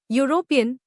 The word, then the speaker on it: European: Explanation: even though European starts with E, which is a vowel, it is pronounced with a Y sound, as in European, which is a consonant